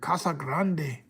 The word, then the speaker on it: Casa Grande: Let me say it right. Let me do my Spanish right. Casa Grande.